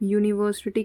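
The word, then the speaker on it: university: गड़बड़ी कर दोगे आप यूनिवर्सिटी किससे स्टार्ट होता है यू से तो यू देख के वल देख के ए एन का यूज मत कर देना यहां पर ए आएगा आवर आवर किससे स्टार्ट हो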